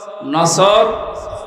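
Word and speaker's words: نصر: এজন্য তেলাওয়াত যখন করবেন উচ্চারণটা মুখ গোল করা লাগে আল্লাহ পাক জানিয়েছেন যখন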